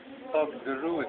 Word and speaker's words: Fogderud: Fogderud, huh?